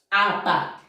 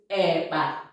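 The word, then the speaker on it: akpa: Apa. Nsụka says eba.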